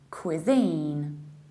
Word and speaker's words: cuisine: and you have a long e cuisine in the American accent it's exactly the same we say cuisine in our example my